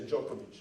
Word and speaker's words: Djokovic: See, the 2 letters D and J becomes J, so you say Djokovic.